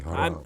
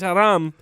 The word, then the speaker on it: haram: You gotta roll your R a little bit more when you say haram.